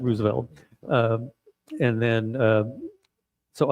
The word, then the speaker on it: Roosevelt: Roosevelt and vary things and he writes this fairly funny letter saying it's Roosevelt. Three syllables. Not Roosevelt. No, not Roosevelt.